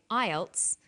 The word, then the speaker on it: IELTS: is called an acronym with an acronym we don't pronounce the individual letters we pronounce it as a word so we say IELTS not I al t